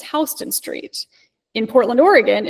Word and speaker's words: Houston: things, it would give you directions that accurately pronounced local streets. So in New York City, it's not Houston Street, it's Hston Street.